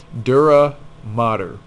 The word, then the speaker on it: dura mater: are a ma ter note that this word is not matter and it is also not pronounced mater like tow mater okay dura mater mater is Latin as